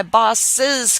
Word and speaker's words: boss's: You just put an apostrophe, and because you're adding an extra syllable, you're not saying my boss car was vandalized. You're saying my boss's car was vandalized. I'm adding that extra sound.